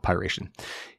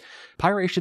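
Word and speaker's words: PY#RATION: rat dubbed pyration and that's spelled py pound sign r-a-t-i-o-n so I'm going to call it piration it's currently being spread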